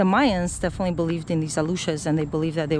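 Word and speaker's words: Aluxes: Aluches, it's spelled A-L-X. A ver, let's see. A-L-A-U-X-E-S. That's the plural.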